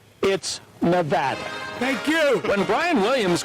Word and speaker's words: Nevada: Nevada meaning snowy but according to the official NBC Handbook of pronunciation originally published during World War II it's Nevada thank you when Brian